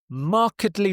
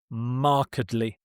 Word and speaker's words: markedly: Markedly different. Markedly different. Markedly. If it was just, if there was no ly here, then you would pronounce this marked. But when it's an adverb, it's markedly.